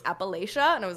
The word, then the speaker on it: Appalachia: York tried to correct me on the pronun pronunciation of Appalachia she was like it's Appalachia and I was like I'm from there who